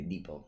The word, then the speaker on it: Depot: Depot. Okay, Depot. Thank you. The T is mute.